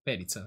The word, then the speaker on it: Perica: Perizza si dice. Ok, è scritto col TA. No, Perica. Però si legge Perizza.